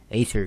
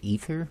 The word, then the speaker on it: aether: And I know some people pronounce it ether, but in alchemy, it was actually pronounced aether because ether was a completely different thing.